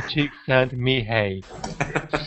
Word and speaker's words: Csikszentmihalyi: Scientists such as Mihail Csikszentmihalyi pronounce Mihai Csikszentmihalyi.